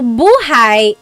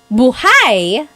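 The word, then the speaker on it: buhay: depending on its context so buhai is life if you say Bhai the emphasis is on the second syllable BH that means alive like oh my gosh how's my plant B is it still alive bigha bhigh so bhigh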